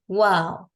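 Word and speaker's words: واو: have to do is we just have to round our leg and it's going to be similar to the one that we say in English as like wow what a beautiful thing to phrase something right so the pronunciations are same wow and then when we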